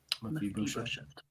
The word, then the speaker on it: Mephibosheth: Okay, our pronunciation is being corrected. Mephibosheth.